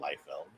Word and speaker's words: Liefeld: Yeah, And Rob, he I think he himself pronounces his name Liefeld.